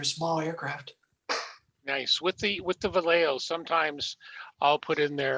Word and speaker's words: Vallejo: This was the first time I used Valerjo, is that how you pronounce it? Vallejo.